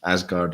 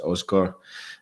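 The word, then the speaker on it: Aasgaard: Stu1872 saying, if anyone's interested, Asgard, as you've been saying, it is pronounced Osgar.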